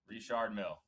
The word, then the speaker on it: Richard Mille: Richard Mille.